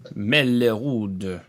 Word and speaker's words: Mellerud: Mellerud. Yes. I You pronounce it correctly.